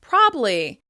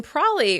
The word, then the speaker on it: probably: "Probably" may be pronounced "probly, probly," or sometimes even "prolly" or "pree."